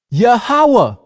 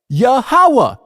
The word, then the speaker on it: Yahweh: Yahweh. Yah means he, Hawa means exists. Yahweh, he exists.